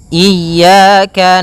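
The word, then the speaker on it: إياك: Pada lafal ya ini hati-hati dalam pelafalannya ada dua kesalahan yang sering terjadi. Yang pertama yaitu dia memanjangkan iya. Nah, seperti itu harusnya dia ee ditekan dan dilembutkan. Iyaka. Iyaka. Nah, kemudian jangan sampai dibaca panjang.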